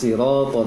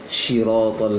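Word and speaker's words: صراط: Untuk resian yang lain dari bacaan Ananda Najma itu pengucapan huruf shad, ihdinas siratal mustaqim di surah Al-Fatihah terbaca seperti shin tadi, ihdinas siratal mustaqim. Jadi shad ini coba diusahakan saja baca berlatih untuk sin yang ditebalkan.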